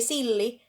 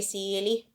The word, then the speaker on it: silli: It's just, sometimes I say it like tilli siili, which is like, okay, an account of hedgehog, or tilli.